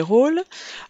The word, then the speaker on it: rôle: Le mauvais rôle, attention, la seule difficulté est l'accent circonflexe sur le O de rôle, qui permet au O de se prononcer de manière un petit peu plus grave.